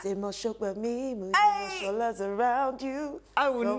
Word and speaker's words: Mos-Shogbamimu: Say my name, say Mos-Shogbamimu, Shola's around you.